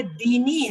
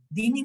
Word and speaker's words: دینی: جیسے یہ دینی ہے لیکن ہم کیسے پڑھتے ہیں؟ لکم دینکم ولی دین. دینی نہیں کہتے, یہ کی زیر کی آواز چلی جاتی.